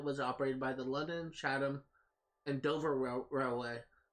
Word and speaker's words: Chatham: The only reason why I know that's pronounced Chatham is I used to live on a street called Chatham Court, and it was spelled the exact same way, so I'm assuming that's how it's pronounced.